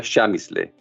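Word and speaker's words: Przemyśl: chamis le es un una palabra polaca que no se parece nada a como se pronuncia y que se escribe de la siguiente manera PR r Z e m ys l se pronuncia shamis le est esta ciudad está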